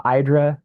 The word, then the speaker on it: IDRA: Uh IDRA uh rhymes with hydra as uh Janet Moore,